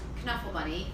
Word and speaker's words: Knuffle Bunny: a smaller persons was nuffle bunny you guys remember nuffle bunny so before you tell me that it's pronounced Knuffle Bunny we'll get to that part later so nuffle bunny so